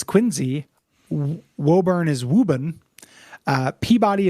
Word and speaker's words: Quincy: lot of idiosyncratic pronunciations Quincy is quinsey wurn is wuben uh